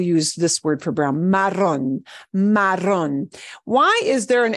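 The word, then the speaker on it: marrón: this word for brown Maron Maron why is there an accent mark on that oh at the end the accent mark does not mean that you change the pronunciation of the letter O all right so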